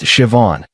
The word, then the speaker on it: Siobhan: Her name was Siobhan, pronounced Siobhan. She taught me after I butchered it three times.